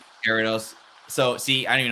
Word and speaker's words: Gyarados: So, and I don't even know Gallardis very well. So, I know he's like a good Pokemon, but like Gyarados. Gyarados.